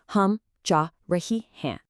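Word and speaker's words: हम जा रही हैं: Listen for that subtle n sound at the end. Okay, repeat after me. Hum ja rehi hey.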